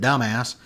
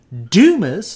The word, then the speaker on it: Dumas: My father pronounces it Dumbass, and I think that's kind of rude, and Mom and I have told him to cut it out, but he does it anyway because my dad's 70 years old and a doctor, and he does whatever he wants to, and he doesn't really care what Mom and I think. So anyway, Dumas, D-U-M-A-S, is the actual pronunciation of the town.